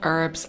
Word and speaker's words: herb: tea but i love herbal tea and i have lots of herbs up here that i brew every day herb herb herbal herbal both pronunciations are okay and this is my